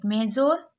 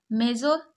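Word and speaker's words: major: इसको आप क्या पढ़ेंगे मेजोर बताइए क्या पढ़ेंगे आप मेजोर गलत है इसको मेजर पढ़ते हैं अब मेजर क्यों पढ़ रहे हैं क्योंकि लास्ट वाले ओ आर को आर पढ़ते हैं तो यह क्या हो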